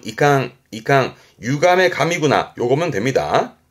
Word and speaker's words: 遺憾: 요거는 유감 발음은 이강 이강 유감의 감이구나 요거면 됩니다.